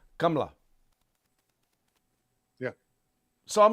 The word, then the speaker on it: Kamala: do you in Hindi how do you pronounce Kamala he says kamla yeah so I'm like